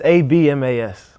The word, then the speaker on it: Abmas: It's German and the B is silent. So how is it spelt? It's Abmas.